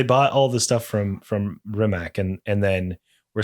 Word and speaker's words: Rimac: Rimac or whatever they say. Rimac. Yeah. You have to like have like a little bit of spit in your throat for it.